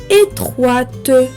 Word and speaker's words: étroite: Il fait sonner le T qui termine l'adjectif étroit et qui est muet au masculin. Donc, ainsi, j'entends la syllabe de plus que le E final. Donc, au lieu de étroit avec le T muet, on prononce le T quand on ajoute le E du féminin.